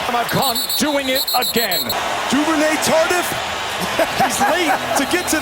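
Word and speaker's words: Duvernay-Tardif: Duvernay Tardif?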